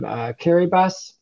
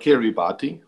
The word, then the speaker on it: Kiribati: But Boris, are we talking about Kiribati? Just want to get it right. Well, okay, so I will explain. Every word ending in ti is it's pronounced s.